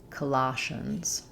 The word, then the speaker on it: Colossians: In Colossians, we have second syllable stress. Letter O says a like in father. That means our first letter O is unstressed. It says the H sound.